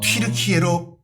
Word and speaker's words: 튀르키예: 그러니까 약간 그런 분위기 가운데서 아예 그냥 원래 우리의 발음인 튀르키예로 바꾸자 해서 바꾼 건데 참 영국도 사랑합니다.